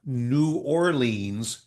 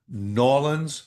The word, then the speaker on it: New Orleans: yeah, Not New Orleans, Louisiana, but the locals say Norlands, Louisiana.